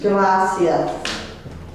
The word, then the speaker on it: gracias: the stress you put the accent on the first egg gracios gracias um lo siento is